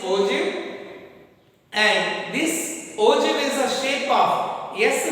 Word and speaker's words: ogive: Here ogive curve, this is the pronunciation is ogive, and this ogive is a shape of S shape, which stands, the vertical ends will be in a vertical shape.